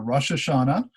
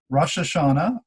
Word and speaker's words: Rosh Hashanah: hashanah and you can you can actually put the emphasis and it has the uh the the pronunciations in here you can put the uh the emphasis on different syllables rosh hashanah the jewish new year